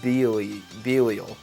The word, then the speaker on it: Belial: Newcomers to this game include Hikaru and Akane, Mambo and Samba, Michael and Gabriel, Koitsu and Eitsu, and Takahiko and Belial. Yes, that's how you pronounce it.